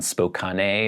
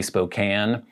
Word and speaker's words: Spokane: should be spokane or spokane or maybe even spokane or something but we say spokane and he says it is frequently mispronounced as spokane i was surprised that that